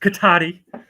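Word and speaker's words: Cotati: katata what K Kata first of all it's pronounced katti with the katti accent um it's a town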